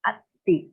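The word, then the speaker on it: atthi: You have to pronounce short a atti.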